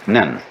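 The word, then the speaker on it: 忍: very interesting sign this it's pronounced in japanese nin and the top part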